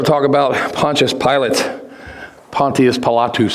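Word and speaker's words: Pontius Pilatus: talk about Pontius pilot Pontius palatus that's how it's pronounced in Latin uh this this picture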